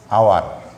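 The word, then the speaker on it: hour: তো কোনো ওয়ার্ডের শুরুতে যদি এইস থাকে, যেমন আওয়ার, শুরুতে এইস কিন্তু উচ্চারণ করার সময় এইসটা সাইলেন্ট থাকবে, এইসের পরে যেই ভাওয়েলটা আছে এই ভাওয়েলটা থেকে যদি উচ্চারণটা শুরু হয় তাহলে এখানে বসবে এন।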